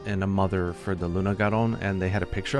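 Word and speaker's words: Lunagaron: fanged wyvern which is Luna gon or lunag Garin or however you want to pronounce it in Japanese it's lunag garon and its nickname is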